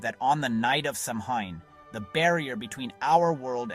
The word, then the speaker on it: Samhain: Almost everything we associate with the holiday started right here, over 2,000 years ago, with an ancient Celtic festival called Samhain, pronounced Samhain.